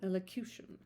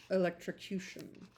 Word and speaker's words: elocution: Elocution. Especially of distinct pronunciation and articulation. Lessons in singing and elocution. Particular style of speaking. A Riley's Riley-esque elo- elocution. Not electrocution. Okay. Elocution. With better notions than his